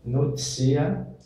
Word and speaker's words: notitia: Se escreve notitia, mas pronuncia-se noticia, esse segundo T tem um som de C, crimes.